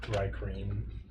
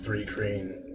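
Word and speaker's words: thri-kreen: I don't know how either, but I like Thrycreen because there are 2 R's. Threekin. Any idea what that is? Well, yes. Oh, how? Okay. They're a bug-like people. There's a lot of debate over how to say their name. Got it. I've always heard Threekreen. not bad. I've also heard Thrycrin.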